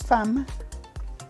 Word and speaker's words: femme: So in French it's femme. I just said it like tamale. You say it like tamale.